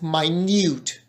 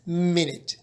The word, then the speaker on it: minute: have noticed the pronunciation is very different we pronounce the word as my mute and not as minute okay so it's not minute it's my mute